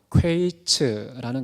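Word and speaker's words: קַיִץ: 여러분, 과일의 히브리어 단어는요, 퀘이츠라는 것입니다. 근데 끝이라는 말의 히브리어 발음은요, 퀘츠입니다.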